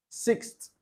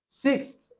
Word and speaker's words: sixth: Sixth is the pronunciation of a non-native English speaker. Sixth. But in most cases, a native English speaker will not say sixth. Rather, you hear sixth. The TH is being it gives you what we call theta